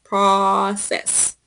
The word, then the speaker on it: process: process everything and so the pronunciation is process that process at the process like a short Oh sound off process everything yep